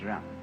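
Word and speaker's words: 仁: I don't know what they are but it's pronounced R and it's a character Chinese character that confucious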